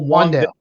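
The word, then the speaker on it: Wan'Dale: I believe, even though it's spelled W-A-N with the little apostrophe in there, I think it's still Wandale, right?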